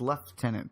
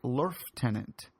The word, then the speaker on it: lieutenant: versus lieutenant thing.